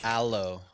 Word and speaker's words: Alo: budget um but uh you said Alo last week brother it's aloe my bad see clearly